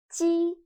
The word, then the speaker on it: 鸡: 鸡 sounds a little bit like the first sound of Jeep. But when pronouncing 鸡, your tongue should be more flat, and you need to stretch your mouth to both sides. 鸡. Listen to me carefully and feel the difference. Jeep. 鸡.